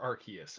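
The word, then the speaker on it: Arceus: and who you ask, is it Arus or Archus?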